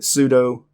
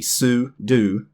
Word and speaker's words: sudo: I always pronounce it sudo. Most people probably mispronounce this one in the English language, sudo. It actually is supposed to be sudo. It actually stands for super user do.